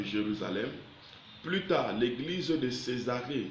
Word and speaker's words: Césarée: Plus tard, l'église de Césarée devient son église locale. Philippe était engagé dans l'église locale de Jérusalem. Plus tard, l'église de Césarée, C et accent aigu, S A R et accent aigu E muet.